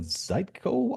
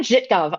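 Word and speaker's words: Żytkow: Stargazers, you mentioned Thorn Zeco objects. Did I say that right? Zitco Thorn Thorn Jitgov object. I had to ask Anna Jitgov how to say her last name, but yes.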